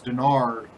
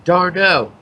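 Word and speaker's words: d'Arnaud: So, I do, however, like me some Asdrubal Cabrera and Travis Denard as a little mini stack at the bottom of that Mets lineup. I have to be your name pronouncer. Darno.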